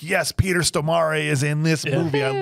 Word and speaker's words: Stormare: Stormare is how it's pronounced, okay?